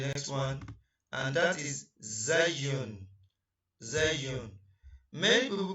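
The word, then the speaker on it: زاي: So let's go to the next one, and that is zayun. Many people call it zain, but its name is zay.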